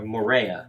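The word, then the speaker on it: Moorea: other groups, such as Mariah. Is that Mariah? Or Morea. That's how you say it.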